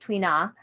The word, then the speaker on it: tuina: you next slide please okay tuina yeah twain yeah let's go to the next slide um so they pronounce it twina uh if you see